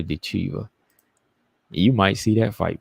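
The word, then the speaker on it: Ditcheva: I was gonna say Dudakova, but no, it's Dakota Dechiva.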